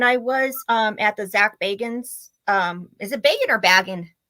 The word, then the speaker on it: Bagans: It's hard, but it's Bagans.